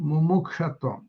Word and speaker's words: mumukshatvam: There is a Sanskrit word for this called mumukshatvam. Ooh, please don't. How do I spell that?